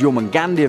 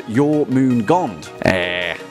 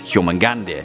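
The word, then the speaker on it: Jörmungandr: Yormangandia video, Dracos514 says, I'm sure I'm not the only one to correct this, but it's pronounced Yormungand.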